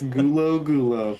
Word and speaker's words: Gulo: You're getting half of it right. It's Gulo. It's really simple.